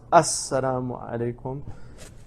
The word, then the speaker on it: Assalamu alaikum: So it's pronounced Assalamu alaikum.